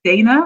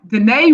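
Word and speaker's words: Danaé: week our guest is dana i'm sorry danae from the class of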